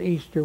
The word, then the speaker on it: Ishtar: I-S-H-T-A-R, which is pronounced Easter, was the day that commemorated the resurrection of one of their gods that they called Tammuz.